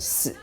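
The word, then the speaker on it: 四: we definitely want to avoid the number 4 because you pronounce it 死 sounds like the word 死 which means death.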